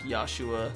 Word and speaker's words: Joshua: Articles you write uh they pronounce Joshua with a Y sounds like yahshua because that's just how they pronounce yeah there's no real J in Japanese so it's always I